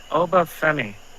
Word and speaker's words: Oba Femi: The NXT North American Championship match between Tony D'Angelo and Oba Femi.